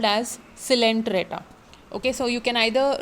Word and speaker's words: Coelenterata: The O in it is silent, so you don't call it as Coelenterata, it is called as Coelenterata.